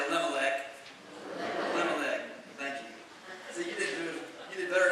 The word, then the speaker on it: Elimelech: story is this difficult name for me to pronounce a little neck everybody say elimelech thank you you did better than i did